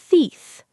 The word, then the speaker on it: teeth: Also, the th sound at the end of teeth can be tricky. Put your tongue between your teeth and blow a little air. Teeth.